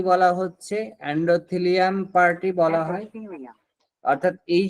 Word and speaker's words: এন্ডোথেলিয়াম: আপনারা কি শুনতে পাচ্ছেন উচ্চারণটা? এন্ডারিয়াম। এন্ডোথিলিয়াম। এরপরে যে পার্টটা এই পার্টটাকে কি বলা হচ্ছে? এন্ডোথিলিয়াম পার্ট বলা হয়।